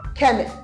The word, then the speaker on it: chemist: so let's see how do pronounce this word you you say chemist is a chemist no it's called chemist can you say it again chemist here CH gives you C gives you that sound C let's look at this